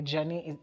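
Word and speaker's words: Djani: girl and then a journey the d is silent d-j-a-n-i oh like django yes yes yes um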